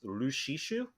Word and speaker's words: Lucis: Apparently, in the Japanese, Noctis Lucis Caelum, Lucis is pronounced in Japanese as Lushishu, which is also the same way as it's pronounced and written the same way that Lassie is.